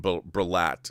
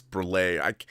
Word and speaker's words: Breillat: But I'm sure I'm mispronouncing. Elizabeth would be like, her name is not Catherine Breillat. It's Breillat.